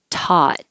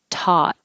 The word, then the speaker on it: taut: and releasing it virgin taut the vowel is ah like hot taut the same in thought but with a th thought i taught i